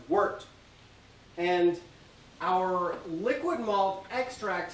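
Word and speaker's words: wort: called worked it's spelled warped w-o-r-t but it's pronounced worked and our liquid malt extract here is basically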